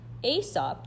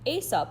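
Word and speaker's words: Aesop: do at least the first four number one asop that's how you pronounce it asap wrote many interesting fables a fable is a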